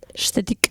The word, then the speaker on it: aesthetic: Estetik.